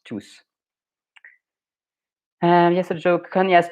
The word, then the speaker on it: tous: Okay, so the S in tous is pronounced because we want to make a difference between tous, which is all the people or everyone, and tout, which is everything. So that is why it's pronounced tous.